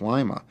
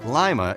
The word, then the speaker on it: Lima: I think part of what's happened in places like Lima is the sense that the social contract's gone.